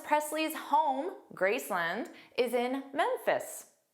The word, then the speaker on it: Memphis: Memphis. Again, we see that ph which is pronounced as f ff.